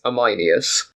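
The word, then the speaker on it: Ameinias: with him called amus it's spelled a m EI i n i u s I think it's amus narcissus responded to his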